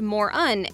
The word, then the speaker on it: Mörön: It is pronounced Moron and is also spelled M-U-R-U-N.